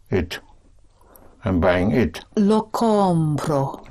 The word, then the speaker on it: compro: And I am buying it would be Compro. it. I'm buying it. Lo compro.